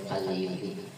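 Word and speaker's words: القليوبي: Tanbihun, telah berkata Syekh Qaliyubi, itu bacanya Qaliyubi. Ada Qaliyubi, ada Qaliyubi sama aja ya.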